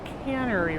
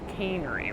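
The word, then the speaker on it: Cannery: this road called uh I believe it's called caner row I believe it's pronounced canery oh cane furniture here yes yes my bad canery R well we're at the aquarium and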